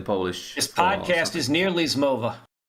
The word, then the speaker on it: zmowa: This podcast is nearly Zmova. Zmova. That should be easy to pronounce.